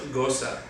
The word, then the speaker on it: gose: So it's pronounced gose.